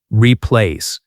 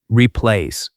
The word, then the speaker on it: replace: Repeat after me, replace. Pronunciation tip, stress on the second part, re-place.